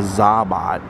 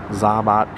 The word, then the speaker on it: ZaBOT: So the official pronunciation is the ZaBOT, ZaBOT pizza robot.